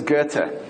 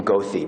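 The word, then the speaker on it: Goethe: jewish people for instance this is guerta don't pronounce his name gothi people would think you're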